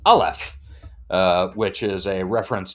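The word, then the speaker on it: Aleph: Henry's referring to it it's literally capital L capital F okay so by the way you're pronouncing it yeah until uh until Gentry explains it and then it's alef uh which is a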